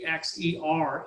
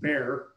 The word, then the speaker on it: Bexar: Around Bexar County, which is, I found out that a Baxer is actually pronounced Bear. I don't know how they do that, but that's how it's pronounced in Texas.